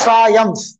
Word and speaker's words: Triumph: Okay, how do pronounce this word? Triumph पढ़ना, कैसा पढ़ना इसको? Triumph.